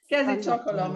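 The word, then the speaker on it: kezét csókolom: Kezi chokolom, exactly.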